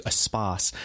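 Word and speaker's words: Espace: He says, I'm on the verge of tears by the time we get to Espas, which is spelled E-space.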